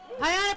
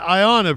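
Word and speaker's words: Ayanna Pressley: give it up for representative haana Presley I'm sorry that mispronounced that Ayanna Presley first of all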